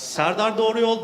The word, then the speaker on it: Serdar Doğruyol: is also great about my name is hard to pronounce it's sardar Dorie old but just just live